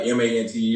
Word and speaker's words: Manteo: So eventually one day, I think NBC, they wrote it out phonetically and they forgot to actually write my name out like Manteo. Mm-hmm. They wrote it out phonetically like MANNY-OH. And then that said Manny O on TV.